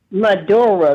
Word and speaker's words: Maduro: But what I'm trying to say is this this president of Venezuela, um, Monero, can you pronounce his name? Reb Maduro. Maduro.